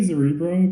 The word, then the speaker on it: Zerebro: Zerebro? How do you pronounce it? We say Zerebro, but you can. Whoa! Wait, what? Whoa. Zerebro. My net worth is in this. I'm pronouncing it wrong the entire time.